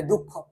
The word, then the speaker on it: দুঃখ: যেমন তুমি শব্দ হিসাবে যদি আমি আনি, তাহলে আমি আনতে পারি দুঃখ, যেমন দুঃখর মাঝখানে কিন্তু একটা বিসর্গ আছে, এবং তুমি যদি ভালোভাবে লক্ষ্য করো উচ্চারণ যখন আমরা করি, এমনিতে আমরা কিন্তু দুঃখ